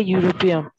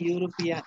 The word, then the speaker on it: European: Your মতো উচ্চারণ হয় কিন্তু ভাবে ইউর মতো উচ্চারণ হলে কি হবে ইজ এ হ্যাঁ Mr. Karim is a European. Mr. Karim is a European. European.